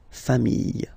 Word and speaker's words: familles: the plural form, les familles, okay? Remember, chien, singular form, chien, same pronunciation, but you put this S, okay? Final S, not pronounced. Famille, singular form. Famille, plural form. Same pronunciation, S, not pronounced, okay?